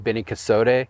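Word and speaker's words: Beni Kosode: But one thing, if people have seen the cultivar Beni Casote, as it's pronounced, comes out like really bright pink, but it's very difficult to keep alive.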